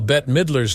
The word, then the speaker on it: Bette Midler: name as Betty while bet Midler's name is pronounced like bet even from a young